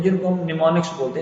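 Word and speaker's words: mnemonics: होते हैं जिनको हम निमोनिक्स बोलते हैं। इसमें एम जो है वो साइलेंट है, निमोनिक्स हम कहते हैं।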